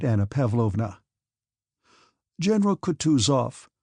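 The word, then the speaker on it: Kutuzov: General Coutus off said Bonsky speaking French and stressing the last syllable of the general's name like a Frenchman has been pleased to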